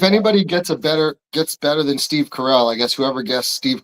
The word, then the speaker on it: Carell: I'm like, who's Steve Carroll on the morning show? I literally typed in Google Carroll, Carol, and Google was like, no, idiot, it's Carell.